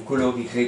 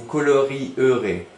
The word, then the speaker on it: colorierez: Parce que ça se fait pas d'écrire vous colorierez comme ça. C'est ce qu'on n'a jamais vu ça. Rirez. Il faut R-I-E-R-E-Z. Voilà, c'est comme ça, il faut le connaître. Tiens, E muet. Vous colorierez.